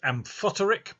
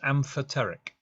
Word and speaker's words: amphoteric: funny word some people think it should be pronounced amphoteric but it's not it's amphoteric amphoteric chemicals work in a particular way so